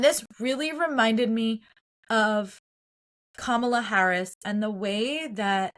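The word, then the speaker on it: Kamala: And the fact that they're all like Camala, you know, like intentionally trying to mispronounce her name to dehumanize her, to take away her power.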